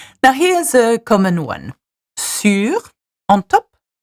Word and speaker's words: sur: So, sur is a long U sound and sous is quite. I was going to say a stopped and dried sound.